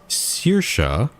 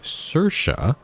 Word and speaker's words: Saoirse: So one pronunciation is Saoirse, and the other one is Saoirse. And I'm looking at, apparently what the person says, both are correct depending on the region of Ireland.